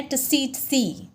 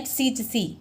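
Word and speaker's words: tsetse: फ्लाई का नाम है टिसीटसी, राइट। आप टी को साइलेंट भी बोल सकते हैं, टिसीटसी, ऐसे इस तरह से।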